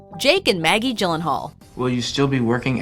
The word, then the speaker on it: Gyllenhaal: that a name like Gyllenhaal would confuse the average person just imagine a girl named Jill and a friend named Hal if you insist on